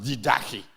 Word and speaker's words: Didache: It's spelled Didache, but it's pronounced Didache.